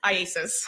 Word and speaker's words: IACIS: IASIS. IASIS. All right. I just want to shorten it for today. Yes. All right. So IASIS. Tell us about that program that you went through with IASIS to become a digital forensic examiner.